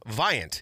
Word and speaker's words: Viant: We've had a we had a client jump in and, uh, they're called Viant. It rhymes with client.